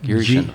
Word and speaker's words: Geary Schindel: Geary Schindel.